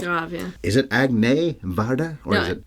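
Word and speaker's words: Agnès: It's an accent on the E, and it's, I think the reverse one is how that works, accent grave. It's grave, yeah. Is it Agnes Varda?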